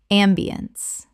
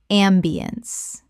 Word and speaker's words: ambiance: ambiance Correct pronunciation. ambiance Three syllables with the stress on the first. The ence collapses to unts.